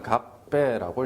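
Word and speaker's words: 合併: 발음이 좀 힘듭니다만 갑배라고 읽습니다.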